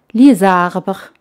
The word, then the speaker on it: les arbres: Los árboles se pronuncia les arbres, les arbres.